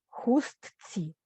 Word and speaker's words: хустці: Але вимовляється, подивіться, транскрипція хустці. Читаю за правилом. Хустці, пусті, невісті, хористі, бандуристі, піаністі. Вусному мовленні відбувається спрощення. На письмі ні.